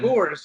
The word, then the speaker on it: Boehrs: So, anyways, Jessica, I think is this pronounced Beers? Sure, let's go with that. Beirs? No, Boehrs. Boers? It's German. Boers, yeah, Boers.